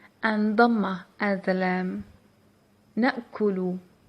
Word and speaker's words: نأكل: نأكل, نأكل. And of course you can pronounce it with سكون at the lam, so it's your choice. You can say نأكل, نأكل.